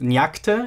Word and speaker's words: nyakte: word for god is nyakte in Tocharian B. And this means that the stress has shifted because it is part of a compound. In this particular case, the stress shifted to the first syllable in accordance with our